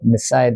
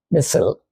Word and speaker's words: missile: Now, because of the American dominance, you must use the American pronunciation. But I'm an old man, I'm used to the British pronunciation. So forgive me for using the old pronunciation, missile.